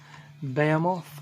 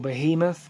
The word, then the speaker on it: Behemoth: knows next we have them off or behemoth depending on how you want to pronounce it this is the Satanist